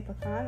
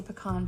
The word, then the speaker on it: pecan: And then I heard somebody say pecan. I was like, that sounds better. Right. So if it's a pie, I say pecan pie. But if I'm like actually... Can you go to the store and get some pecans? Right. That's how it comes out. That's what I'm saying. Like it just depends on what it is. On how I pronounce it.